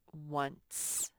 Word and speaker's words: once: But it does have a C there, and since there's an E right after the C, the E makes the C say S. And this says once.